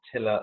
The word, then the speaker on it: Tillr: go to our websites that is tiller dot IO and tiller is spelt TI ll R and right there on